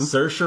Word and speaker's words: Saoirse: how to say her name better Saoirse Ronan Saoirse Ronan yeah she's she's great like she just